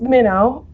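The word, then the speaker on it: Mino: This is Minnow. It sounds like the fish.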